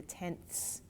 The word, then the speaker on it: tenths: and then over here careful because it's pronounced right this is the tens this is the tenths so this is one